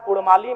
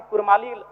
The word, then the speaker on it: कुड़माली: है ठीक उसी प्रकार कुड़माली में अभी कुरमाली र उच्चारण होता है वर्तनी में जबकि वह मूल रूप से परंपराओं की मान्यताओं की बात करें तो अड़ होना चाहिए और अंग्रेजी दस्तावेज में